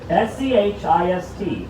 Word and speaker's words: schist: You'll say, ah, schist, get me dynamite. S-C-H-I-S-T, Manhattan schist, is this dense bedrock that allows us to build skyscrapers cheaply.